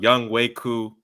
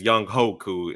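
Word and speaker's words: Younghoe Koo: Name pronounced Young Waku. But if you look at the spelling, you would think it's Young Hoku, and he played like a young ho.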